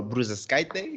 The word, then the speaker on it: Bružauskaitė: Donatas Mankevicius and a Miss Bružauskaitė.